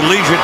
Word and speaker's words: Liuget: Corey Liuget, that's the way it's pronounced.